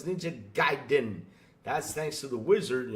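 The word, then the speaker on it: Ninja Gaiden: though personally I'm I'm hoping it's not ninja gning I'm not interested in that really you're not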